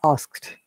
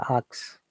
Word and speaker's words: asked: in past form so asked i heard many people says axe ask ask similar help picked